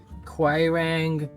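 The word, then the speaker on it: Quiraing: Time to go to the Quirang Walk. 20 minutes. If you have a better pronunciation for that word, let us know.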